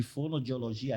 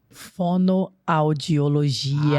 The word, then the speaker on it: fonoaudiologia: pessoas nessa parte de fonodiologia, assim que fala? Fonoaudiologia.